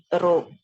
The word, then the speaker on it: rho: p okay fine it's a symbol so it's pronounced as rho okay in rank order given by Charles pierman